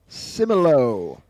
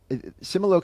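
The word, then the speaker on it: Similo: number 10 number 10 my number 10 is simolo simolo is spelled s i m i l o do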